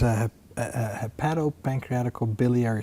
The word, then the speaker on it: hepatopancreaticobiliary: Will you please pronounce it? Absolutely. It's hepatopancreaticobiliary surgery, HPB surgery, And liver, pancreas, and bile duct surgery.